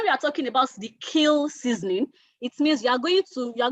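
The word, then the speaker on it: kiln: most common ones are what air seasoning and kill seasoning kill in the spelling of kill is k i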